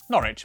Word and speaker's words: Norwich: W at the start of the final syllable is silent. Norwich, Berwick, Southwark.